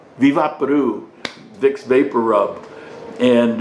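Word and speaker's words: Vick VapoRub: It's pronounced Viva Peru. Viva Peru.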